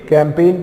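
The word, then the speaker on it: campaign: India against corruption के कैंपेन की बात की जा रही है देखो कैंपेन की स्पेलिंग बिल्कुल बराबर है का एम पी ए आई जी एन कैंपेन जी इसमें यहां पर साइलेंट है आपका स्पेलिंग बराबर मीनिंग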